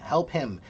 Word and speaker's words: help him: Help him. The H is not silent. Listen to me. Help him. Help him. Help him. Help him. There's two very clear H's.